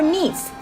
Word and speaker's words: Nice: Alright, before I start to explain more about this carnival, you must be wondering, is it actually pronounced as nice or Nice?